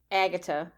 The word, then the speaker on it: Agata: one of them is Agata which is like Agatha with without the AG without the H sound the th sound